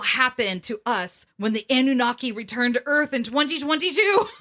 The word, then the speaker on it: Anunnaki: eventually no it's me i'm pronouncing it wrong it's not a nanaki it's annunaki well it's not you